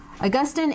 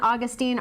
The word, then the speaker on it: Augustine: the big man augustine augustine and augustine are both correct pronunciations i have had endless debates with fellow professors about the question and some of my favorite augustine scholars say augustine some of my favorite